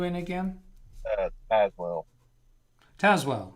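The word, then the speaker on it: Tazewell: again uh as well taswell w t-a-s-e-w-e l l pronounced taz as in tasmanian devil uh let's see dan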